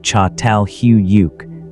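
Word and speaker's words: Çatalhöyük: The discovery saddle huryuk pronounced roughly chhatal huyuk means forked mound in Turkish which is a functional description of the site's geography.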